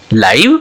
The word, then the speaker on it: live: Clear, ये example ऐसा है जो आपको बिल्कुल अलग दिशा देगा, LIVE, राइट, इसके दो प्रोनाउंसिएशन है, एक है LIVE लाइव, इसे सेंटेंस बना, आई लाइक लाइव प्लांट्स, मुझे जीवित पौधे पसंद है, मतलब सजीव, ओके, जिंदा।